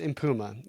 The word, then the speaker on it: Mpuma: I know I butchered that name yesterday, but I did a little bit of research and it's pronounced Mpuma as far as I'm as far as I know or am concerned.